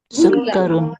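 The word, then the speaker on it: سكر: Kemudian kita mengenal sukkarun artinya gula. Gula. Jadi kafnya ada tasdid ya. Sukarun.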